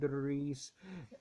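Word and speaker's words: Idris: his Lord and commemorate Ed Edis Ed is how you say but Edis is how list it in the book for he was a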